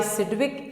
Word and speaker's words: Sidgwick: इस थ्योरी को, बाय सिडविक and Powell, and was developed by Nyalom and Gillespie, by Nyalom and Gillespie. ठीक है, तो this theory was introduced by Sidgwick, G is silent, सिडविक and Powell, POWEL।